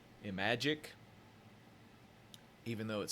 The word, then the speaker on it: Imagic: This is Demon Attack, and I believe the way that the company that developed it is pronounced is Imagic, even though it says Activision up there.